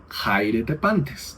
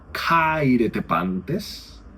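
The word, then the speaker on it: χαίρετε πάντες: video, ese caireepantes o jairetepantes, ¿no? Fíjense, en griego ático sería cairetepantes, mientras que en un griego coiné uno escucharía quizás jairete pantes.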